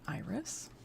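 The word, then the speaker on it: Irus: the place called him Iris, because he used to run errands for anyone who would send him. Is that supposed to be pronounced Iris? Yep.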